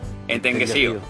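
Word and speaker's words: entenguecío: Entenguesío. Vale, muy bien. Oye, en la codosera. Pronuncia entenguesío porque en la codosera la S se sesea, o la C se sesea, mejor dicho, Entenguesío.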